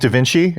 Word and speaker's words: Da Vinci: vinky twins those twins that that that m pronounced Da Vinci and they were like dinki you know and